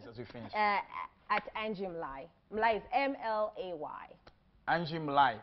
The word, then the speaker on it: Mlay: At Angie Mlay.